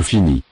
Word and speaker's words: finis: Je finis. Je finis. Fini. Add the ending IS. Remember, the final S is not pronounced.